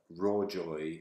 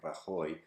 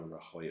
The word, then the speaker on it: Rajoy: is a guy called Mariano Rajoy which of course has a Spanish pronunciation but the the system would not pick up and Roy it's just not part of the 200,000 core words so it probably come up with raw joy so then we have